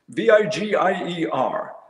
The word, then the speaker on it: Vigier: So I was doing a tour in France, and a rep from Vigier Guitars, V-I-G-I-E-R, Vigier. I'm glad you pronounced it, not me.